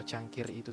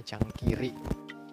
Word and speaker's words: cangkiri: Nah, kalau cangkir itu sendiri sih bahasa Bugisnya itu tinggal ditambah i aja di belakangnya, ditambah i ya. Jadi kita sebutnya cangkiri ya, cangkiri, tapi dengan agak cepat ya, cangkiri ya, cangkir ya.